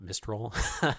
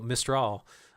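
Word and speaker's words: Mistral: the way I did I recently learned that it's called mrr and not mistol which is why I'm now saying it correctly so mraw um it's it's a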